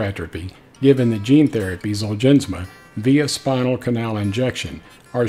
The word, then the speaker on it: ZOLGENSMA: Now, I've been pronouncing it ZOLGENSMA for a long time, but I did receive